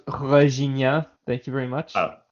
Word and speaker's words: Regina: by our nonsense jokes on Regina it's pronounced reia thank you very much